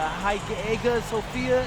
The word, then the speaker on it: Hagia Sophia: And one thing I'm really looking forward to is I hear they've got a beautiful architecture over there, and the Hagia Sophia, if I'm pronouncing that right, is supposed to be fire.